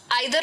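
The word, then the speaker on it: either: सबसे पहला और सबसे सिंपल वाला तो है ईदर और। आइदर और भी इसको बोलते हैं, दोनों प्रोनाउंसिएशन सही है।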